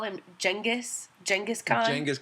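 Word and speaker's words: Genghis: wrong they call him jengis jenus jangus K yeah I didn't know that it was not genas I didn't either and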